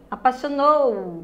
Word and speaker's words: apaixonou: nayara e índia tá lembra apaixonou né você não disse né você se apaixonou você não diz a pai chamou tá aí você diz a última sílaba é a sílaba forte da você circulou com